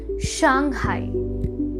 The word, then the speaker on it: Shanghai: Maximum लोग गलत pronounce करते हैं और वो शहर है शंघाई। The actual pronunciation of the word is शंघाई।